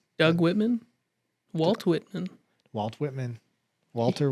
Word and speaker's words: Whitman: yeah there's two of them as per uge dane whitlock dane whitlock whitman the best you said it wrong so you're